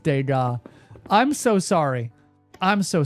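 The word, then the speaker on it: Degas: Sono, respectfully, it's pronounced Dega. Thank you. It's at the Mulan Rouge. Uh, first try. He nails it every time. How does he do it? Respectfully, it's he's pronounced Dega.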